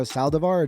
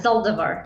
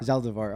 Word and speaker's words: Zaldivar: Saldivar. Did I pronounce it right? Yeah, Zaldivar. Zaldivar.